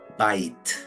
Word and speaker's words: bite: Pero si le agregamos la E, ahí la vamos a partir en la I y la T. Dejamos B, T. La primera sílaba es abierta, termina en vocal y decimos bye. Y la TE, que es muda, bite.